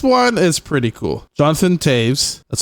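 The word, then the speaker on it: Toews: Jonathan Taves, that's how you say it.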